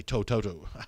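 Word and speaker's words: To'oto'o: Grace asking about Henry Toto, or I should say Toto.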